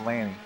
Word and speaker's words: Landis: It's an A, so it's pronounced Lanny. I prefer. Not in English. not So in does he, but he doesn't get a check that way. In England